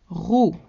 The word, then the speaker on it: roux: Roux, roux, masculine. The X is silent.